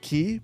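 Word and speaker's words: quay: It's pronounced key. Build 5 kilometers of keys in one city.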